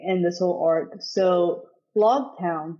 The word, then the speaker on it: Loguetown: this whole Arc so log town is that how you say it l town I say lock toown I think it's lock toown this town you guys